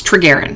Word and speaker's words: Trigarian: Moving from, I cannot pronounce that. Trigarian. It's Trigarian, that's it.